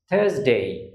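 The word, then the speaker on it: Thursday: আছে এস অর্থাৎ কসন্ট সুতরাং আরটা উচ্চারণ হবে না তাহলে এটার সঠিক উচ্চারণ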